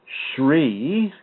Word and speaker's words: Sri: You might want to read Sri, and I believe that's spelled S-R-I, Aurobindo, capital A-U-R-O-B-I-N-D-O, Aurobindo.